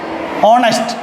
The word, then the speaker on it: honest: traditional grammar foreign like honest he is not he is a honesty boy no he is an honestable because H is silent H is silent